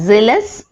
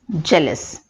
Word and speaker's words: jealous: The next word is jealous. Commonly mispronounced as zealous. The correct pronunciation is jealous.